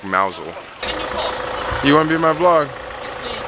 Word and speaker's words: Mousehole: gets his name the mouse hole uh or a mouse hole if I believe the locals say it like mousel you wanna be my